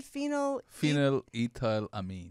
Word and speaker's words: phenylethylamine: Let's say that again. Phenylethylamine. It's ethylamine. Ethylamine. Yes. Yeah. Methyl, ethyl. Same thing.